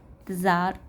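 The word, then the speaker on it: Tsar: ज़ार Nicholas, T silent इसमें second.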